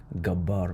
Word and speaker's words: الجبّار: lot of Arabs because we don't we don't pronounce the the gimm properly. we say gabar but you know every